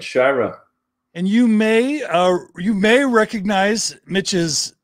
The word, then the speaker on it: Shira: Is that how I pronounce it, Mitch? That's correct, Mitch Shira.